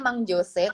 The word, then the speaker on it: Mang Jose: Terus yang seru juga aku ada Mang Jose, tulisannya Mang Jose tapi bacanya Mang Jose.